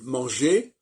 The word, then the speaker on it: manger: Par exemple, manger, je veux manger, ER, je ne vais pas prononcer le R, sauf si il y a une liaison.